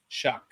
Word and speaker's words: Shuck: 6'5", and is Tyler Shuck. Shuck is the pronunciation of his last name.